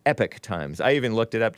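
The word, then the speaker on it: Epoch Times: America according to this Epic Times or Epoch is what it looks like but I learned from the the great Bill Lockwood on his show a few years ago that it's pronounced epic times I even looked it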